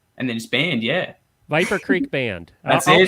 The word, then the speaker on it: Viper: Viper. We don't have any R's. We just go, Viper. We just go Down here. Viper. and then Creek, so like CREEK, and then just band, yeah. Viper Creek Band.